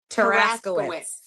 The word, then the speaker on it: Tarasowicz: No, wicks like like Wicks? Yeah, wicks. Like you have your wits about you.